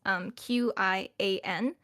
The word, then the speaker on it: qian: qian, which is spelled Qian. And normally, if I say it in Mandarin, it's just qian. It's like it's kind of gone and over with. It almost ends up sounding like qen because you kind of